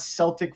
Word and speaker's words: Celtic: Celtics that play basketball so why is it not Celtic Frost well I think it's the proper pronunciation is Celtic right yeah up there in Boston pron the Irish pronunciation not the Boston pronunciation we can't pronounce anything